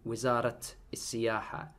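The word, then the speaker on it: وزارة السياحة: Sultanate Oman, Wizarat Is-Siyaha. So I'm pronouncing both these tar marbutas here as t's, t's, as actual t, not a, but t.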